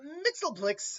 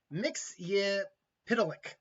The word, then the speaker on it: Mxyzptlk: But Mixel Blicks, as I call you, that's not quite as how it's pronounced, but that's close as I've ever gotten to it.